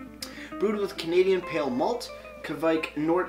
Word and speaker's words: kveik: with canadian pale malt kavik which is the nordic east pronounced kawaik never heard it pronounced kawaii i always thought it was kvike but moving forward and